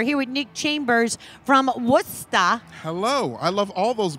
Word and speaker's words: Worcester: It's just Worcester. A lot of pronouncing the letters that don't need to be in there.